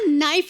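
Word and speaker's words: knife: मैं चाकू को भी कनाइफ बोलता हूँ। कनाइफ नहीं होता, नाइफ होता है। के साइलेंट रहता है।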